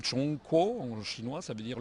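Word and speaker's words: 中国: On a les Chinois se prononcent s'appelle même Chong Ko.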